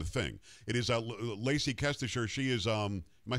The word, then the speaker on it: Kestecher: It is Lacey Kestecher. She is, am I saying it right, Lacey? I am, right? Kestecher.